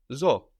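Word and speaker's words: ζω: accent on the end zo I live like in zoo like in the name in English Zoe and zo also counts as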